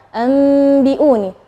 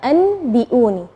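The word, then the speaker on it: أَنْبِئُونِي: Nah, tapi ketika kita membacanya anbi'uni terjadi khilaf antara misalnya ada yang bilang bibirnya terlalu ronggang, diun, atau merapat. Itu yang mana sih yang benar? Nah, yang benar adalah kita merapatkan bibir, tapi jangan terlalu menekan, enggak.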